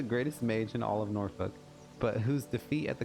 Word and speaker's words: Norfolk: Norfolk or Norfolk with the L being silent.